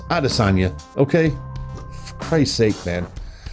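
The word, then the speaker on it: Adesanya: fan a destiny hey can somebody please tell brett okamoto that nobody else in the world's pronounced pronounces it a destiny or whatever however the hell he pronounces it just pronounce it like everybody does arasanya okay for christ's sake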